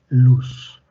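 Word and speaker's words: Loos: se llama ciclo de luz. Se escribe L-O-O-S. Se pronuncia ciclo de luz, o de luz, ya si quieren. Listo.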